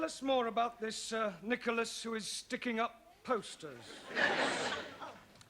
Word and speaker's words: Nicholas: upon a times there was a man called nickel ass it's not quite right no once upon a time there was a woman called nickel us it's pronounced Nicholas all right once upon a time there was